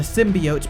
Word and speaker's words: symbiote: The symbiote pronunciation.